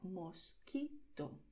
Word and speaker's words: mosquito: Date cuenta de que aquí la letra U se escribe pero no se pronuncia, ¿vale? En las combinaciones QUE y QUI en español la letra U es muda, ¿vale?